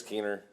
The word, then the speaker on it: Keener: Is it Keene or is there a syllable? There's an R at the end.